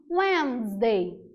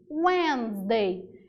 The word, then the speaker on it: Wednesday: Porque a escrita não encaixa muito com a pronúncia, se a gente for ao pé da letra. Então, nota, quarta-feira a gente chama de Wednesday. Wednesday.